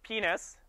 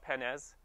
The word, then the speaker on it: penis: and then you got the good old penis that's how you pronounce it it's not pennes uh p your penis